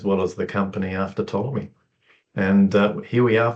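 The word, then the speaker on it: Ptolemy: Um, and I didn't know this at the time, but Tommy lived in 150 AD. It was spelled with a P that silent P. I dropped the P for branding uh reasons.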